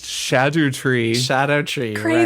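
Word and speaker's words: Scadutree: Shadow tree. Crazy. Right. This is something that I'm sure a lot Right. of people have learned, but it's the Scadu tree, and this is like an old English pronunciation, Right.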